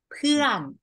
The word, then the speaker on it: เพื่อน: next One friend คุณ เพื่อน Yes Is You You เพื่อน This One with the Falling Tone นะ คะ up and down เพื่อ Yes อ่า โอเค เพื่อ เพื่อน เพื่อน actually long V นะ คะ เพื่อน อ name